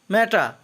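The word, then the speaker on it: matter: ম্যাটা অর্থ ব্যাপার বা বিষয়, লাস্টের আরের উচ্চারণ হবে না।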